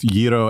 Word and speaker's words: gyro: Good pronunciation on both Giro and Fieri.